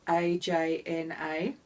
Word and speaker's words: Ajna: texts that are available Anya of course English-speaking peoples like Australians like me might say ajna or you know to put an emphasis on the letter letter J I think brow chakra